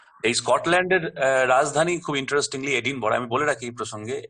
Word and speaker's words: Edinburgh: So obviously it is Edinburgh if you pronounce it. কিন্তু আসল উচ্চারণটা হচ্ছে এডিনবরা।